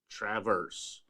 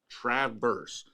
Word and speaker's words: Traverse: I sent those bourbons Traverse like the name Travis. Traverse. Traverse.